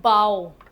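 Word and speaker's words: bow: इसका प्रोनंसिएशन होता है बाऊ। स्पेलिंग बी ओ डब्ल्यू ही होती है।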